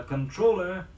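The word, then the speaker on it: comptroller: t ro ll ER means the same thing and has the same pronunciation as controller spell c om t ro ll ER here's the practice sentence for it the controller checked his expenditures the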